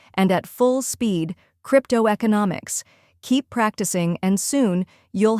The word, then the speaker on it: cryptoeconomics: all together slowly cryptoeconomic try repeating after me cryptoeconomics now a little faster cryptoeconomics and at full speed cryptoeconomics keep practicing and soon you'll have it down